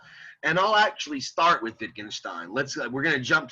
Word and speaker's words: Wittgenstein: minute wittgenstein he's j he's german so you you pronounce the w like a v so it's wittgenstein uh but yeah don't